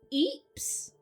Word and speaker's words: Ypres: So in 1915, at the Second Battle of Ypres? It's a town in Belgium. It's spelt Y-R-P-E-S.